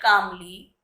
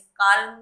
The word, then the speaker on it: calm: Step 1, seat कामली ऑन अ मैट and close your eyes. बच्चों ये word है काम, CALM, एल साइलेंट रहता है, इसे काल्म नहीं बोलेंगे, काम, कामली।